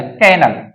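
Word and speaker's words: kennel: फिर बात करते हैं के double N एल कैनल कैनल कोल क्या होता है कुत्ते का घर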